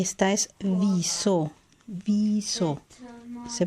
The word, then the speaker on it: wieso: Y esta es wieso. Wieso. Se pronuncia así. Wieso. Ya sabemos que cuando encontramos una I y una E juntas, se pronuncia como una I larga.